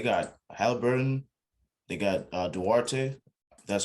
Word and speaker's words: Duarte: i mean they got halliburton they got uh duarte that's how to pronounce his name um they got uh miles